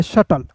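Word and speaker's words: shuttle: एस का स होता है। और देखिए यहां पे टी का ट होता है। एल का ल होता है। और अंतिम में आया इ जो है दोस्तों साइलेंट होता है। तो इसे पढ़ेंगे शटल।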